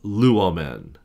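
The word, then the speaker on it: λύομεν: that is the verb luomen. Luomen. So the first thing we're gonna do is we're gonna break that puppy down into three syllables. So we got lu, a, men.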